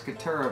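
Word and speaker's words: Caturra: mellow fully washed cutter you know roll your r's 2 r's couture a variety and what do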